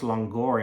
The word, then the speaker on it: langar: actually originally a Persian word and it's actually pronounced longor in Bengali and it was something introduced by